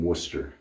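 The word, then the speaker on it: Wooster: in a town called Worcester Ohio w-o-o-s-t-e-r and when I first asked him where he lived he said we live in Worcester except it's spelled right like Worcester Mass but spelled right pretty funny how you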